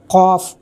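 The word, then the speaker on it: ق: यह है गैन, यह है क़ाफ़, इसको बोलेंगे बड़ी क़ाफ़। क़ाफ़ को भी हलक से बोलते हैं।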